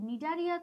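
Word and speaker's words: Cnidaria: তারপর নিডারিয়া তো এন দিয়ে শুরু হওয়ার কথা, ন দিয়ে যেহেতু শুরু হচ্ছে না, নিডারিয়ার শুরুতে কিন্তু একটা সি আছে, সেটা সাইলেন্ট থাকে।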